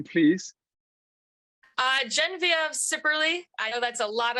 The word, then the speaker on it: Genevieve Sipperley: give us to us your name please uh gen of cerly I know that's a lot of vowels and syllables so yes it's a wonderful name hey